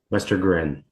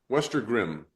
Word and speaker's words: Westergren: Westergren. Westergrim. Gren.